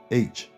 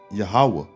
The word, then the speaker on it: Yahweh: And you can see it, See, it says Yohewah. When it really says, it just said Yahweh. That's how you say it, man.